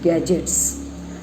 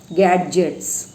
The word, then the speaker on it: gadgets: तुम्ही उच्चार करताना पटकन म्हणाल गॅडजेट्स. गॅडजेट्स नाही, इथे डी जो आहे तो सायलेंट आहे. जसा ब्रिजमध्ये डी सायलेंट असतो तसा.